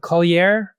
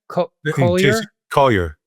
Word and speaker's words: Collier: But also you had gone to see and I don't know how to pronounce his last name but Jacob Kolier. Collier.